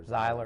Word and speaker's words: Zeiler: John Ziegler, who does he say his name Ziegler or Zeiler? Zeiler, sorry.